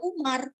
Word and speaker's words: Oemar: Kenapa nama kakek saya Oemar tapi dibacanya Umar?